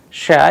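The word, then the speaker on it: ша: how they are pronounced Shah as in shoes a sample Russian word we have used for Shah is sheath sheet which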